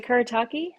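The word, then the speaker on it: Kuretake: You know, I just butchered that. I'm so sorry. K. Are they Kurataki? Oh, yes. Kerataki. Yes. Kurataki.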